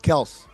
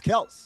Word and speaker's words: Kelce: Yeah, it's pronounced Kelce. I've never heard that before. Now, Greg, you can ask Travis. You can ask their father. It's Kelce.